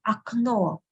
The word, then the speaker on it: окно: In the second word, окно, окно, there are two letters O here, you can see, right? Two letters O. But only the last one is stressed. That's why the first one we pronounce as A, окно, окно.